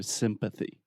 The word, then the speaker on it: sympathy: in there so sympathy if you don't say the th this could be confused with Symphony which is an orchestra so sympathy sympathy excellent and empathy